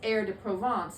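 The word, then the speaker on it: Herbes de Provence: spelled like herb D Pro Province but the pronunciation is air to provance in France in French and so it comes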